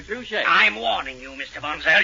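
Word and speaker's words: Trushay: it at any drugstore it's spelled t r u s h a y so just ask for True Shake I'm warning you Mr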